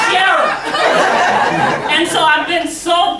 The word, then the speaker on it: Cheryl: And then one day I heard somebody say, Cheryl? Because in New Orleans, Cheryl doesn't have an L in it. It's Cheryl.